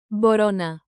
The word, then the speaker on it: μπορώ να: Tap this groove, bo ro na, bo ro na. Borona. Emphasize the rising row.